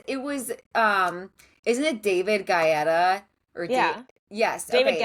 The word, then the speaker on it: Guetta: Like, because it was isn't it David Guetta or Yeah. yes, David okay. Guetta. David Guetta. David Guetta, Guetta. right? Yeah, not Yeah. me calling the name wrong. David Guetta. David Guy Fieri, David Guyetta.